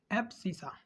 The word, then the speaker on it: abscissa: और यहाँ पर देखिए, यहाँ पर जो x, इसका x वाला कोऑर्डिनेट होगा, इसको हम लोग बोलते हैं एब्सिसा, ठीक है, एब्सिसा।